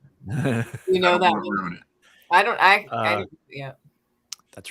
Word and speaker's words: dents: No, don. Don. Don't pronounce the T.